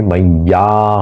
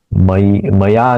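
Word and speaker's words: मय्या: के साथ मिलने से मैया हो गया मैया मैया उसका उच्चारण मया नहीं होगा मैया इया य का आधा जो य है उसका भी उच्चारण करना जरूरी है मैया वेत चेतसा शाम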